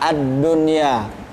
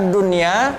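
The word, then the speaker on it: الدنيا: Nun di dalam kata ad-dunya berharokat sukun. Kemudian bertemu dengan huruf ya, maka dia tidak masuk kepada kategori idgham bi gunnah. Cara bacanya tidak boleh dengung, tetapi kaidahnya adalah atau hukumnya adalah izhar mutlak.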